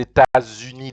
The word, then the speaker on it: États-Unis: You have to join des and then that état, state, and then even s you have to join with uni. So that's why you have to pronounce vous venez des États-Unis d'Amérique.